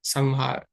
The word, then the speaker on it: संहार: संसार संहार कई लोग इसको पढ़ते हैं संहार या संसार दोनों ही गलत है। यहां पर मां की तरह इसका उच्चारण होगा अनुस्वार का संसार संहार।